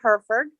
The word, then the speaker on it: Hereford: It's now Hereford. It's spelled kind of funny, but it's pronounced Hereford. I'm trying to get my husband to drop the E.